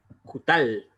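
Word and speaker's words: קֻטַּל: Se pronuncia en hebreo kutal, kutal, ¿ya? Kutal.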